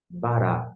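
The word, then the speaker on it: ברא: Bará é a forma que você vai transliterar e, da mesma forma, pronunciar.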